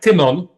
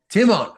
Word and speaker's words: Tymon: First name would be more like Tymon. Tymon.